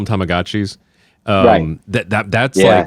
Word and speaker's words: Tamagotchi: the contract with them they were like it's Tamagotchi like have we been pronouncing it wrong for 30 years yeah because even the